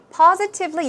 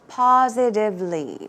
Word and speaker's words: positively: are positively or certainly positively you can make the T sound but you can also say positively positively or certainly but absolutely